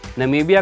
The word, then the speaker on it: Namibia: Donald Trump जो थे वो कभी नमीबिया को ठीक से प्रोनाउंस नहीं कर सके। उन्होंने इसे हमेशा नम्बिया कहा, जिसके बाद सोशल मीडिया